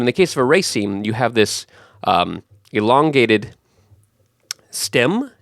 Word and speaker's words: raceme: It actually looks like race me, which is kind of cool. Hey, race me. But no, it's pronounced raceme.